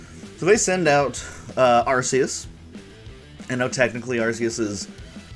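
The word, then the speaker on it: Arceus: archus with one hit I don't know how y'all pronounce that arus archus maybe if you're real stupid you say arus cuz that's dumb but um I kind of I sort of alternate between arus and archus so here we've got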